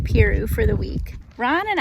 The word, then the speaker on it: Piru: so we're at lake peru i think i'm saying it right like piroo for the week ron